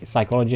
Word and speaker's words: psychology: It took me embarrassingly long to realize P in psy psychology in English is silent.